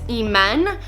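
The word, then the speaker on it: Iman: to pronounce my name its Amen so it spells I am a n but it's pronounced am en so II Men amend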